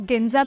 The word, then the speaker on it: Ginza: It's pronounced as Ginza Patel Bay, and the word means gold coins.